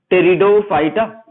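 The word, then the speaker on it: Pteridophyta: टेरिडो में P silent रहता है, पी से स्टार्ट होती है स्पेलिंग, याद रखिए, कंफ्यूज मत होइएगा। टेरिडोफाइटा, टेरिडोफाइटा।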